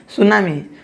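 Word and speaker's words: tsunami: सुनामी, ये हम पढ़ेंगे सुनामी, टी साइलेंट होता है, इसलिए हम क्या पढ़ेंगे, सुनामी।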